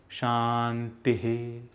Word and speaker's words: Shantihi: It is usually pronounced Om Shanti, Shanti, Shantihi.